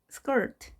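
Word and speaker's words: skirt: 비키니 수영복을 입습니다 해변에서 스컬트 스컬트 치마 또는 옷자락이라는 의미가 있고요 우리가 그대로 스쿼트라고 말하는데요 스컬트 알 발음을 정확하게 주시기 바랍니다 너무 커 내게 너무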